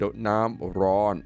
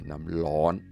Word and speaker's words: น้ำร้อน: น้ำร้อน If you don't know how to say it, น้ำร้อน with the R, you just drop the R and just say น้ำร้อน It's the same thing.